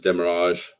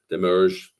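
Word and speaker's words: demurrage: yeah um waiting times demerrage demerge different ways to pronounce that you know and the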